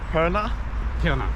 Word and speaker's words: Pirna: Pirna?